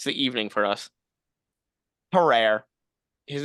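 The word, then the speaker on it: Tarrare: listening to it it's the evening for us terrer his name is spelled t a r r a r e sometimes that last e is chopped off his name is terrer are you sure you're pronouncing that right I'm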